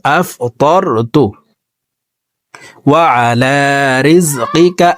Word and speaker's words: أفطرت: এই যে এখানে দেখুন আফতারতু লেখা, কিন্তু হবে আফতারতু, তোকে মোটা করে উচ্চারণ করব, আফতারতু। ওয়া আলা রিজকিকা আফতারতু, ওয়া আলা রিজকিকা আফতারতু।